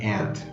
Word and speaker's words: Ant: There's only one syllable, Ant, right? There's no fancy word letters, there's no E-I-O's, nothing, just Ant.